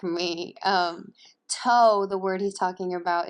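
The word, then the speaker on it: τῷ: see that to ἔκτω, I'm pronouncing it that way because the second letter in to is omega with a iota underneath. So for those of you who don't read Greek like me, toe, the word he's talking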